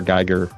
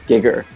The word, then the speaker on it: Giger: Yeah, the pronunciation of Geiger in Japanese is Giger. Oh, okay. She was like, oh yeah, Giger. Makes sense. 名前が一致しました。はい。 Some people say it that way here too. Giger.